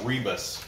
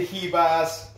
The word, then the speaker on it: Ribas: what emoney kept saying rebus rebars rebars rybas rebuys reeboks she's brazilian the r's pronounced with an h it was it was kind of annoying but he doesn't know kiba amanda hevas and uh most of